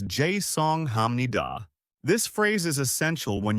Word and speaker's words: 죄송합니다: The pronunciation is 죄송합니다.